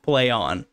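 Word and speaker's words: Plaion: like leon like like almost peon right i was like but no it's it's the luckily the article told me because i would not have read that it was literally said pronounced play on great the owner of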